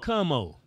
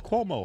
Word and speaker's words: Cuomo: people it's all about camo it's cuomo how you pronouncing it and you come